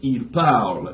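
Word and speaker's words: parlent: Yeah, it's spelled P-A-R-L-E-N-T, but it's il parle, il parle.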